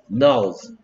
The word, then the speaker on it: nose: 끝에 소리 안 나는 E가 얘한테 찾아가서 네 이름 뭐냐고 물어봤더니 내 이름은 뭐다? O다. Nose. 오케이. 그 다음에 얘는 어떤 소리 날까?